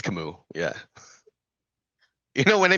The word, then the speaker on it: Camus: Is he shout out to Kimu, Camus? All right. No, it's Kamu. Yeah. You know, when I mispronounce look, I I need to explain.